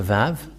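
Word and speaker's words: ו: The Vav. And this is the letter Vav. This is the Vav. The way to read this is V as in Vag. So V, that is how it is read.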